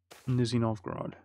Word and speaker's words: Nizhny Novgorod: It is Nizhny Novgorod. which that's my excellent pronunciation there again, Nizhny Novgorod.